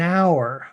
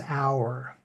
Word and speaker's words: hour: note however that some words have a silent letter that gives it a vowel sound and we haven't talked